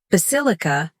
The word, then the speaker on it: basilica: Basilica has stress, On the second syllable, basil ik.